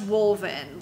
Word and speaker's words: Wolven: I think it is pronounced Wolven, like wolf.